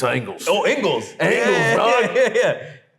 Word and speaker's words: Ingles: It's spelled like Ingles, but it's Angles.